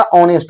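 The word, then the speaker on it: honest: ऑनेस्ट लिखा हुआ है तो इसमें नेस्ट नहीं होता ऑनेस्ट होता है उच्चारण के अनुसार देखेंगे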